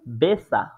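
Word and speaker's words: besser: আরো একটি দেখতে পাচ্ছি এখানে বেসার কিন্তু এটার এক্সাক্ট প্রোনাউন্সিয়েশনটা হচ্ছে বেচা বেসা ঠিক আছে তারপরে যেটা আছে ফাটার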